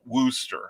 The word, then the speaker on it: Worcester: street in newport and you also call it wooster i'm like what do you do with all